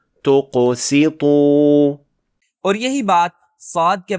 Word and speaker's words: تقسطوا: یہاں سین کا غلط تلفظ کر کے اسے صاد پڑھ دیا گیا کیونکہ یہ قاف اور طا سے متاثر ہو گیا تھا جو کہ دونوں موٹے حروف ہیں، جبکہ اس کا تلفظ اس طرح کیا جانا چاہیے۔ تقسطوا.